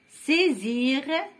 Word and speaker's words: saisir: نطقوها Z. Choisir, saisir, isoler, isoler, isoler entre l'I ou l'O, entre deux voyelles.